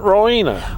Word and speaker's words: Rowena: It's Marina at Rowena.